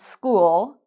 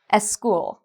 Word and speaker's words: school: So for example, a lot of Spanish speakers might pronounce special like especial, or they might pronounce school like eschool.